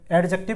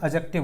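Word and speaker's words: adjective: सी टी आईवी ई इसको हम बोलते हैं जनरली एडजेक्टिव ठीक है लेकिन वो एडजेक्टिव नहीं होता एडजेक्टिव होता है इसमें डी साइलेंट होता है डी साइलेंट बोलते हैं ए डी जे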